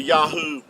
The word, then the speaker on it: Yahuah: in Israel without valpoints so you didn't need the vow points to get the Yahoo pronunciation they're spelled with the the modern Hebrew the three letters uh Yahoo would give you the sound um these three letters here the the yode Yad and the hey and the uh would give you Yahoo and uh even Benjamin